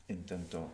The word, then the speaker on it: intento: The accent. Intentar, we have the accent on the end. When we put the o, the accent is just before it. Intento. Now this is extremely important. If I say intento, if I put the accent on the end, it means something else.